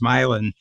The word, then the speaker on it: Milan: It was called Milan, same as Milan, Italy, but it's pronounced Milan.